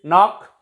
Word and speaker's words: knock: Next is knock, knocking at the door is a verb, knock.